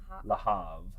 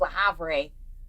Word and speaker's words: Le Havre: Le Havre. I was like, La Havre.